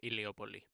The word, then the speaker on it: Heliopolis: into existence from the waters of chaos at Heliopolis. Did I pronounce that correctly? It's pretty good, but Iliopoli.